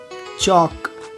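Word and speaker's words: chalk: एल, यदि किसी शब्द के अंत में एल के या एल एम साथ में आ जाए, एल के या एल एम, तो ऐसी कंडीशन में एल का उच्चारण नहीं होता, जैसे वॉक, चॉक, टॉक, palm, balm, काम, ऐसे वर्ड में एल का उच्चारण नहीं हो रहा है, ओके।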